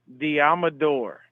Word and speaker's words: Deommodore: it's literally from him it is the amador okay like this did you break it down so it's d um uh door literally the amador there